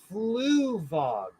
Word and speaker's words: Fluvog: Oh, it's Fluvog. Fluvog are the shoes. Flugtag, Flugtag. I put it in the chat. It's spelled Fluvog online.